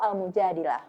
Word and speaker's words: Al-Mujadilah: Adapun pada edisi 1431 Hijriyah, huruf tersebut diberi dua kemungkinan harokat, fathah dan kasroh, sehingga dapat dibaca Al-Mujadalah atau Al-Mujadilah.